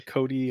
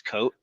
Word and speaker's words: Cote: Like, do you get like Cote or Cody or things like that? If I don't phonetically spell it, I would say 90% of the time it's Cote, C-O-T. Technically, there's an accent over the E.